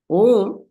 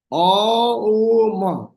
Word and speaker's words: Om: Om, the pronunciation is from three places. O, U, Ma.